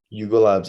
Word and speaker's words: Yuga Labs: Yuga Labs? Yuga Labs, yeah.